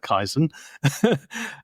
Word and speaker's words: Kaizen: for beginner um 101 Kaizen is a Japanese word I'm probably making a mess of pronouncing it but I call it kaisen um and the literal